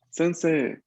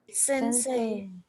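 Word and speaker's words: 先生: usualmente si no sabes la regla fonética, ¿no? O no le prestas atención, uno lo lee sensei, ¿no? Dándole bastante énfasis a la pronunciación de la I al final. Pero no, atención. Esto aquí cuando lo veamos así, EI, la gran mayoría de veces vamos a pronunciarlo una E larga. La I está ahí solo para indicarme de que la E va a ser larga.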